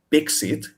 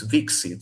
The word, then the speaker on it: vixit: So it's apparently not bixit, the word in Greek, it's vixit, so v at the time.